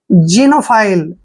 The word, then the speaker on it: xenophile: देखिए एक्स का उच्चारण हम क्या कर रहे हैं? जय। क्यों कर रहे हैं? क्योंकि जब भी एक्स के बाद ई आता है तो एक्स को हम जय पढ़ते हैं, ठीक है। और ई का उच्चारण देखिए यहाँ पे हम ई करेंगे, एन का उच्चारण न करेंगे, ओ को ओ की मात्रा पढ़ेंगे यानी कि जीनो।